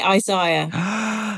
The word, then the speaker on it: Isaiah: right so we say Isaiah no yeah did you not know that that's terrible yeah we say Isaiah because one eye is higher than the other one I say it the